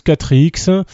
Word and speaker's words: XXXX: Et enfin, le continent XXXX, ça se prononce 4X, qui rappelle essentiellement l'Australie, bien que l'Australie soit pas un continent chez nous.